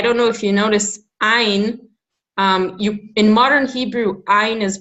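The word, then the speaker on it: עין: But in modern Hebrew, you pronounce it like an aleph.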